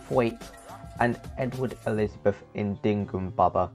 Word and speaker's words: Twat: In Guest House Paradiso, the characters are now named Richard Twat, which is meant to be pronounced Thwait, and Edward Elizabeth Indingum Baba.